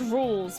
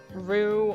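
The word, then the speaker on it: Rouxls: chapter two is called It's pronounced rules because so many people thought it was pronounced Peru or Rouge or like which I don't know I thought that it was pronounced rules because like the point is the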